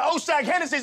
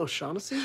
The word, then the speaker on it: O'Shaughnessy: Now take your ass on down to Oshag Hennessy's office right now and tell him exactly what you did! Who? Oshag Hennessy! Principal O'Shaughnessy?